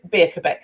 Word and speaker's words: Birkbaek: lots of funny games i always have to spell it but it's said beer quebec so i'm